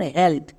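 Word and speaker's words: health: এডিড ডি এডি dead এবার আমরা দেখে নেব ই এর পরে যদি টিএইচ বা এলটিএইচ থাকে যেমন হেলথ এখানেও দেখ এখানেও আমার ভাল ব্লেন্ডিং ওয়ার্ড ই আছে কিন্তু এরপরে এলটিএইচ আছে তার মানে এলটিএইচ দেখে বুঝতে পারলাম ই একার সাউন্ড দেবে যেমন এইচ এর জন্য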